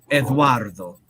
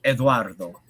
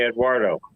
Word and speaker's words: Eduardo: name it's real simple Eduardo yeah roll the RS Eduardo I just say Eduardo right you do it